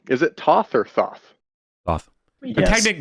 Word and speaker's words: Thoth: Thoth. Yes. Technically, it's Toth, but I refuse that because English is such a fucked up language that why would TH have two different pronunciations in the same word?